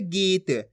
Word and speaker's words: गीत: ई की मात्रा तो ग का उच्चारण कैसे करेंगे गीत तो मिलके बन जाएगा गीत इसी तरीके से पढ़ना आपको खीच के गीत गीत नहीं पढ़ना अगर आप गीत पढ़ दोगे तो इस तरीके से छोटी ई की मात्रा का उच्चारण हो जाएगा यहां पर छोटी ई की मात्रा लगी हु तो कैसे पढ़ रहे गीत यहां बड़ी ई की मात्रा तो खीच के पढ़ जा रहा है गीत यह फर्क